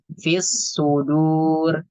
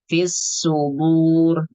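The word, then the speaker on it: في الصدور: Kemudian dal domah dibaca tebal menyerupai huruf dhad.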